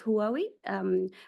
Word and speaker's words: Huawei: So, I think you pronounce it as Huawei, has invested in one